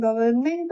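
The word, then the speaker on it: government: हम लोगों ने यह भी सीखा था कि गवर्नमेंट में गवर्न में एन का प्रोनाउंसिएशन नहीं करते हैं। गवर्नमेंट बोलते हैं लेकिन एन को हमेशा अप्लाई करते हैं।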